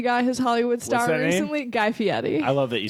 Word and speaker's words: Fieri: no guy fieri got his Hollywood star guy Fiat e I love that you say it correctly you're